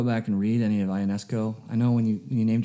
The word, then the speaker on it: Ionesco: And one curious note about the band is it's actually pronounced Eugene Ionesco.